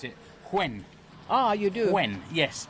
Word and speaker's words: Nguyen: worked with somebody from Vietnam who said you pronounce it quen ah you do quen yes but it's it's